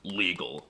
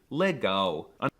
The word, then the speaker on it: legal: weren't calling him Lauren the L is also quirky because it's often pronounced as a w like in the word legal well it looks like it should be pronounced legal but it's actually Lego leg go it's interesting